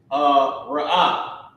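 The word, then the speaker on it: ראה: Character ra, character ah, and the character ha are connected. Ah, ra'ah. Okay? And this is how you pronounce it. Now remember, I keep my ah, I keep my H there in English.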